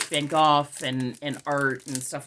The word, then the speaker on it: Van Gogh: a lot and I try to call it Van Gogh because that was his name and I'm trying to pay him the respect of pronouncing his name properly so yes so of